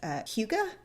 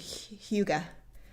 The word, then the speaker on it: hygge: h.y g g e i think it's similar to like the english word hug but it's i think it's pronounced like huga but i have not